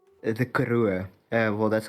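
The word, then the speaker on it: Karoo: is very close to a desert called the karua uh well that's how we pronounce it but you probably pronounce it like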